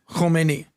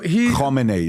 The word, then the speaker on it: Khomeini: So Khomeini, not Khomeini. Khomeini. Guys, I apologize, listeners. You got to get these pronunciations right. I said Khomeini, but I should have said Khomeini. Yeah. I got to carry that Enye, right?